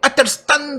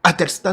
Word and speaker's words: Athelstan: riche, excentrique et autoproclamé Athelstan de Wessex. Alors oui, moi je ne dis pas le TH en anglais, ça me gonfle prodigieusement, donc je le dis à la française, Athelstan de Wessex.